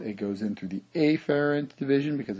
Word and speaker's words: afferent: I will usually pronounce it afferent, so it doesn't get confused down here with the efferent division or the efferent.